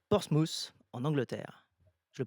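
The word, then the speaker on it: Portsmouth: Tu es né en 1974 à Portsmous en Angleterre. Je le prononce bien forcément.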